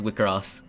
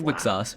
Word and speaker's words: WIXOSS: It is pronounced WIXOSS. It is. According to the Wikipedia page, Selector infected WIXOSS, pronounced WIXOSS.